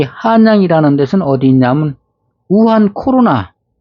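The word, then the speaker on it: 武汉: 지금 이 한양이라는 데는 어디 있냐면 우한 코로나, 무한이라는데 발음은 우한이라고 합니다. 무한. 근데 발음을 우한이라 하는데 중국 발음으로 우한으로 하는데 거기에 한양이 있습니다.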